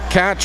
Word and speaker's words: Tkacz: It's TKACZ. And I talked to the Cape Breton Islanders staff, and they told me that Catch was their best estimate as well, so that's what we're going with.